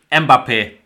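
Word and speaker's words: Mbappé: And Kimat is saying, pronounce it Mbappe. I refuse to do that, Kimat. To me, it is pronounced Mbop, like in the Hanson song that we all grew up with, because we're all old men here.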